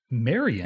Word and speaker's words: Maryanne: So, as as I said, he pronounces it Marian, but it's spelled Maryanne in the credits.